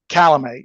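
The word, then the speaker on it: Calame: Is that the proper way to pronounce his name? Calamay, yes.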